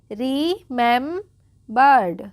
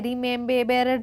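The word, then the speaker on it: remembered: आर ई रीम बर्ड क्या पढ़ेंगे? रिमेंबर्ड। ठीक है? रिमेंब बेरड नहीं पढ़ेंगे। आप इसमें कंफ्यूज मत होना। रिमें बेरड नहीं होगा।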